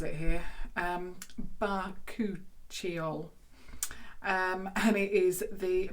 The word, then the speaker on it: Bakuchiol: And I'm going to see how they actually tell me how to pronounce it here. Bakuchiol. And it is the Bakuchiol serum for £10.